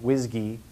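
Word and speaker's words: WSGI: um which is pronounced whsy uh which sounds like whiskey and if you had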